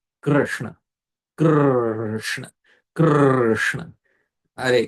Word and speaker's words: Krishna: This R is a vowel, it's not a consonant in Krishna. So you have to have that sound. Krishna, Krishna, Krishna, Hare Krishna, Hare Krishna, Krishna, Krishna, Hare Hare.